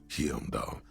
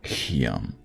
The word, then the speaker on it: Hyamdal: Nearly all the titles contain the word Hyamdal somewhere. Hyam. I don't think you pronounce the H.